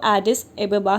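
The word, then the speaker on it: Addis Ababa: तो सबसे पहला है एडिस एबेबा, और इसको हिंदी मीडियम जो बुक है उसमें अदीस अबाबा लिखा हुआ है। सो आप इसको प्रोनाउंस कैसे भी कर सकते हैं। सो बट इसका जो रियल प्रोनाउंसिएशन है वो एडिस एबेबा ही है, ठीक है।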